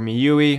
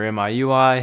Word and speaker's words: MIUI: we're gonna cover me you white n or me you E or MIUI however you want to pronounce it the skin that Xiaomi uses that's